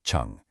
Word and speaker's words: 成: And finally, we have chun pronounced chun.